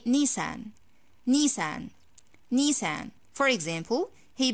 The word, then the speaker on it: Nissan: the pronunciation in english is close to our pronunciation in arabic so i say nissan nissan nissan for example he bought a nissan